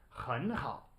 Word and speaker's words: 很好: You can never have two third tones in a row. So in reality, this is pronounced 很好, right?